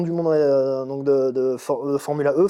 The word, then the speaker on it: Formula E: monde donc de de Formula e formula i comme les prononcent les Anglais pour le côté électrique